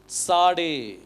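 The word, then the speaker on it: צדי: இதுக்கு இதனுடைய உச்சரிப்பு வந்து சாடே இதுக்கு என்ன சொல்லுவாங்க சாடே இந்த டி எஸ் வந்து இட்ஸ் அப்படிங்கிற சவுண்ட் வரணும் சாடே அப்படின்னு சொல்லி வரணும்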